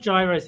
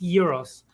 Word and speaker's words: gyros: it Gyros is because the Greek spelling is g-y-r-o-s yeah and not realizing that that's pronounced Euros they spell it like